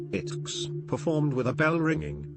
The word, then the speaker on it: iTeX: At the TUG 2010 conference, Knuth announced a satirical XML-based successor to TeX, titled iTeX, pronounced ITX, performed with a bell